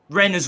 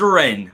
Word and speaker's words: Rennes: and you and chris are pronouncing reyna's wrongs it is ren right let's just get that